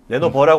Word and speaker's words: 레노버: 오늘 이제 우리가 워크스테이션 얘기하기 전에 먼저 레노버 레노 버라 발음해야 되죠 레 네 레노버 그 레노버가 이게 일단은